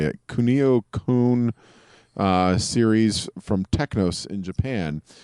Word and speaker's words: Kunio-kun: it is it is part of the the kunai ugh how do you say it kunio-kun series from Technos in Japan which I'm trying